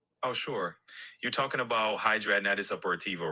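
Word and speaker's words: hidradenitis suppurativa: You're talking about hydraitis upperiva, right? That's how it's pronounced. Hydraonitis supporativa.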